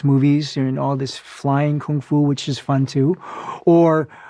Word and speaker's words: kung fu: The definition of kung fu, or gung fu, as Bruce Lee pronounced it, a lot of people think that's just meaning martial art.